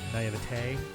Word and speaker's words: naivete: I guess when it's spelled like that, it'd be naivete, so it doesn't have the accents.